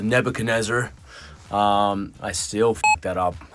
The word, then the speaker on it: Nebuchadnezzar: I think back then I was pronouncing the Nebuchadnezzar as the Nebuchadnezzar, and the boys were quick to point out that it was the Nebuchadnezzar.